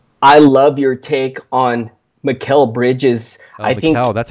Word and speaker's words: Mikal: I love your take on Mikal Bridges. I think that's how you pronounce it, yes, isn't it? Oh, God, yes, Mikal.